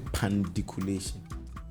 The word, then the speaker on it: pandiculation: So first, the word is pandiculation. Pandiculation. Pan is the first syllable. Diku is the next. Is the next syllable.